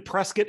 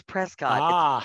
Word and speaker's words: Prescott: in so I'm in Prescott Arizona Northern Arizona think pine trees is that how you say it I always thought it was Prescott spelled Prescott so if you're from not here you say Prescott